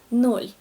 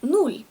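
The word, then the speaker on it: ноль: In Russian there's just one word, nol. But it can be pronounced as nul. However, it's not that often. Usually we all say nol.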